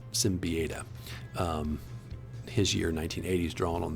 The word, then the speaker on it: Siembieda: You get this art here as well from Kevin Siembieda. I mispronounced that, Simbieda.